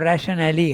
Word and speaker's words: rationale: no further rationale or rationale. How do you pronounce it? How do you pronounce the word? Rationale, yeah. Rationale. Because there is an E at the end. Okay?